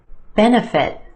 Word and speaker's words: benefit: the second syllable economic benefit benefit three syllables here our emphasis on the first syllable the e benefit that second syllable that's